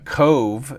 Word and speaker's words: Cobh: None of like Foy is spelled Fowey, and Cove is spelled Cobh, which is Gaelic.